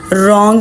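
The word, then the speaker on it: wrong: रॉन्ग में W silent है।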